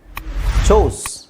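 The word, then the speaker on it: choose: ಚೂಸ್ ಚೂಸ್ ಚೂಸ್ ಚೂಸ್ ಇವೆರಡು ಒಂದೇ ಹೆಂಗೆ ಆಗುತ್ತೆ ಇಲ್ಲಿ ಡಬಲ್ ಓ ಇದೆ ಇಲ್ಲಿ ಸಿಂಗಲ್ ಓ ಇದೆ ಸ್ವಲ್ಪನಾದರೂ pronunciation change ಇರಲ್ವಾ ಚೋಸ್ ಚೂಸ್ ಚೋಸ್ ಕಮ್ came okay ಇದನ್ನ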